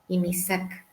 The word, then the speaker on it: INHISAC: Se escribe INHISAC, INISAC.